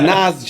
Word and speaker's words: Nas: saying like the rapper Nas, right? He's from Queens, New York. You would pronounce his name Nas, I right? still say Nas, yeah. He goes, it's not Nas, it's Nas. Nas.